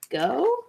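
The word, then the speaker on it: Geaux: Go? Go Resellers? Go. G-E-A-U-X. Go Resellers. It's a stress relieving pen.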